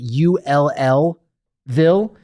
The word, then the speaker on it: Louisville: Fran no I I if you pronounced it UL lville it's closer Ville Ville just that